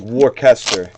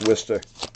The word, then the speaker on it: Worcester: yeah it's crazy it literally like looks like warcaster and it and it's pronounced worcester it's very weird hello it's real sad like